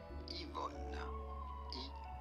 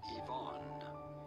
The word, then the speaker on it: Yvonne: In French, this is normally said as Yvonne. Yvonne. Yvonne. In English, consequently, this is normally pronounced as Yvonne.